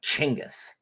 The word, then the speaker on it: Genghis: Genghis? No, it's like Chinggis.